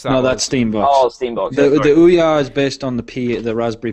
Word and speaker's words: Ouya: The Ouya. Oh yeah, that's it. I always get the name wrong.